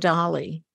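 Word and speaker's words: DALL-E: that the creativity in Dolly and Dolly for those who don't know it's spelled D A L E not not like Dolly the sheep or the musician no right right um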